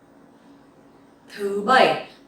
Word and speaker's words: Thứ bảy: Thứ bảy. So this word is a little bit hard to pronounce correctly because it has dấu sắc and dấu hỏi.